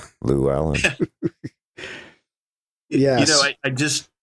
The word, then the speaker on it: Llewellyn: Llewellyn. Llewellyn. Yeah. Sounds like a girl's name. Llewellyn.